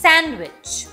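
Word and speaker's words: sandwich: strong একটা sound but ডিও কিন্তু অনেক ক্ষেত্রে সাইলেন্ট হতে পারে যেমন খেয়াল করে দেখেন স্যান্ডউইচ হ্যান্ডসাম ওয়েন্সডে এই সকল ক্ষেত্রে আমরা কিন্তু ডিটাকে প্রোনাউন্স করছি না আরও কিছু এক্সাম্পল আছে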